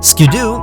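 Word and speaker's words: Skiddo: be milked for both their cuteness and personality skidoo yes it's pronounced ski-doo is both cute and energetic I've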